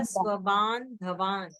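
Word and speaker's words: स्वबान्धवान्: स्वावन स्वावनंदवान नहीं नहीं, आधा ना क्यों नहीं बोले? स्वबान बोले धवान, ये ऐसा उच्चारण होगा, स्वबान धवान।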